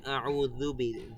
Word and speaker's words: أعوذ: তারপরে আউযু বি, এই যে এখানে এক আলিফ টান দিলাম, আউ, আপনাদের এক আলিফ টান দিতে হবে এখানে, বেশিও না কমও না।